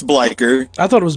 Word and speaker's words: Bleikr: am i pronouncing it right how do you pronounce it it's bleichert I thought it was Bleecker yeah it's no it's like it's it's Norse